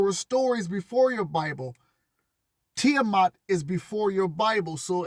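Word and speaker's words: Tiamat: Tiiamat from the Babylonian creation. Most of you are stuck on the Bible. There were stories before your Bible. Tiiamat is before your Bible.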